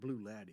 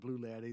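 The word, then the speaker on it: Bruichladdich: favorite from isla is what people call it blue laddie is blue blue laddie and they're fine with that you want to call it blue laddie that's fine and that is that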